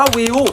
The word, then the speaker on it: Viu: viu เนี่ย เขา อ่าน ว่า วิว บอก กับ ทุก คลิป